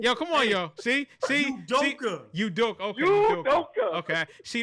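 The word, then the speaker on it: Udoka: Udoke.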